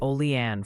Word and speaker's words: Olean: It's apparently Olean for Olean, New York, and emphasize the Ashtabula in Ohio.